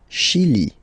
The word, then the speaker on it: Chili: Le Chili. Okay, remember, CH, sh. Okay, Chili. Le Chili.